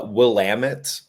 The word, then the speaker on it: Willamette: Oh, so yeah, it's uh Willamit. Um, will Okay. Yes. Yeah. No, you're you're on par with everyone else. Everybody is Will. Uh, but no, Willamit.